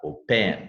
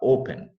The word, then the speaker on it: open: Você não fala open, você fala open. A sílaba forte está no O, open.